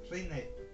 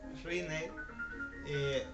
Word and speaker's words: Rinne: Por tanto, no podemos hacer un acento sobre la última sílaba, sino que tiene que ser sobre la primera sílaba. Por eso es prueba de Rinne, Rinne, no Rinne.